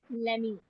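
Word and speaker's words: let me: बच्चे अक्सर कहते हैं मम्मा सोने दो ना, सो इट इज लेमी guys. T साइलेंट हो जाएगा।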